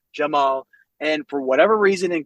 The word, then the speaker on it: Cemal: Because so people ask me, say it's like Jamal, right? I don't have a Turkish accent. So Jamal, Cemal is Jamal, is my name, right? But in kindergarten, no one could pronounce Jamal. It was Cemal, Cecal, Camel. Because it's spelled, Cemal, but then with the pronunciation. I love it because then people the C is like a J.